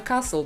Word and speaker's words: Castle: nazwie czyli zamek i tak właśnie czytamy Castle bez tego t tak samo jak pomijamy